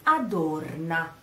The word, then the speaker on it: adorna: The stress of the sentence is on the O, adorna, O, it's a O, small O, adorna. So you say eccomi, first stress is on the first E of eccomi and then on the O of adorna.